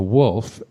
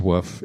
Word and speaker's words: woof: And so it somehow it got translated from woof to wolf, but it's actually pronounced woof if you are pronouncing it correctly.